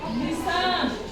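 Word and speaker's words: listen: लिसन इसको हम बोलेंगे लिसन इसको हम लिसन बोलेंगे ती यहां पर हमारा क्या रहेगा साइलेंट रहेगा वैसे ही सफन इसको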